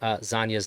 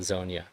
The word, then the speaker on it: Zanya: I think I'm saying Zanya's name wrong. I think I'm supposed to say Zanya, not Zonia.